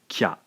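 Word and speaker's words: きゃ: cha so in essence by combining the two separate syllables Ki and ya we end up with a single Blended syllable again pronounced Kya let's take a look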